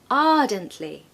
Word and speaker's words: ardently: told you before that we don't pronounce the r especially if it comes in the middle of the word or at the end we generally don't tend